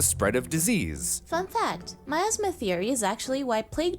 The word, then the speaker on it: miasma: an oppressive or unpleasant It's spelt nearly like asthma, guys. atmosphere which surrounds or emanates from something. Oh, miasma! That's like concentrated bad vibes, right? Yeah, kind of. This miasma was Like my asthma.